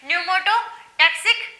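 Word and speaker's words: pneumotaxic: न्यूमोटोटैक्सिक centre, ठीक है, यहाँ पी साइलेंट रहेगा।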